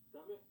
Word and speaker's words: stomach: You all know what a stomach is, but I wanted to show you the word because in this case, the final k sound is spelled with CH.